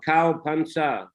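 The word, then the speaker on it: เข้าพรรษา: And Pansa, actually it is a Sanskrit word, Barsha, but Thais, they cannot pronounce ra at the end of a syllable. So Barsha becomes Bansa, Pansa, Pansa.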